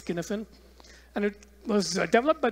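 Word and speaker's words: Cynefin: our topic is one known as skinifin it's pronounced skinnifin it's a Scottish word it looks like sinophen but it's skinfen and it was developed by this guy Dave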